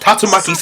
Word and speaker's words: Tatsumaki: the shuken and T what it's pronounced tatsumaki paku paku did he